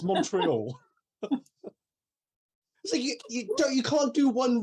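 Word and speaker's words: Montréal: But when the race gets to Canada, they talk about Montreal, not however the French-speaking Canadians would pronounce it. Montreal. Yeah, that's what they should be saying, but no, it's Montreal.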